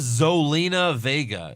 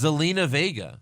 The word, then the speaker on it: Zelina Vega: By the way, Ronaldo even says her name wrong. He says Zolina Vega. It's Zelina Vega.